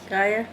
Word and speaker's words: Gaia: Cult Gaia, I think. Gaia, it's pronounced.